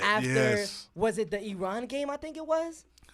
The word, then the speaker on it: Iran: I used to call it Iran. I said it wrong this episode, dude. Everybody says Iran. But you know what? Like, that's what they call it, Iran. I want to respect how they call it.